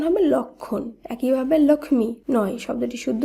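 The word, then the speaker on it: লক্ষ্মণ: লক্ষণ শব্দটিকে আমরা কিন্তু লক্ষমন এভাবে উচ্চারণ করছি না শব্দটির শুদ্ধ উচ্চারণ হবে লক্ষণ একইভাবে লক্ষ্মী নয় শব্দটির শুদ্ধ উচ্চারণ হবে লক্ষ্মী অর্থাৎ উচ্চারিত শুদ্ধ শব্দে ম ফলা বিলুপ্ত হচ্ছে এবং সেই ম ফলা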